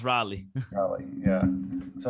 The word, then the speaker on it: Raleigh: it rightly raleigh raleigh i always call it rayleigh no it's pronounced raleigh probably yeah so how was that like compared